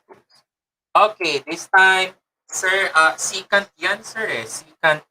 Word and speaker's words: secant: Okay, this time, sir, secant yan, sir, secant x. Sir, hindi po nabibisaya. Si sir, ha? Ang tama pong pagbigkas po dyan ay secant.